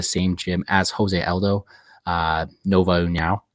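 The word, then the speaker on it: Nova União: If you knockouts recently, BJJ black belt, fighting out of the same gym as Jose Aldo, Nova Uniao. Right? I said that right? Yeah, we got some good pronunciation going.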